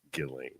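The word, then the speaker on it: Ghislaine: of his cohort galain Maxwell spelled gisling but pronounced Gilling so I think it's appropriate for us to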